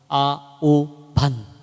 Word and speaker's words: আহ্বান: আহ্বান কোন শব্দ নেই শব্দটির বানানো আহ্বান কিন্তু উচ্চারণ হচ্ছে আহ্বান আ ও ভান কেমন লেখে আহ্বান অনেকেই বলে আহ্বান আহ্বান ঠিক